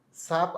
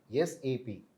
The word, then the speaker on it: SAP: இன்னைக்கு நம்ம என்ன பார்க்க போறோம்னா எஸ்ஏபி சாப் அப்படின்னு நிறைய பேர் ப்ரொனவுன்ஸ் பண்ணுவாங்க. பட் ப்ராப்பராக சொல்லணும் அப்படின்னா எஸ்ஏபி.